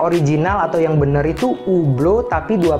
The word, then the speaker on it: Hublot: Nah untuk brand ini masih banyak orang yang pengucapannya itu Hublot hablot ataupun hublo nah sebenarnya untuk brand ini ada dua pengucap yang paling sering digunakan Cara pengucapan yang pertama adalah yang paling sering dipakai oleh orang-orang Eropa di mana Jam tangan ini berasal orang-orang Eropa atau aslinya brand ini itu sebenarnya dibaca ublo Oke ublo ublo tapi umumnya orang-orang Amerika